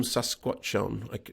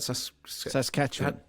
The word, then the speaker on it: Saskatchewan: monsanto percy was from sasquatch on how do you say that saskatchewan that's the bunny he's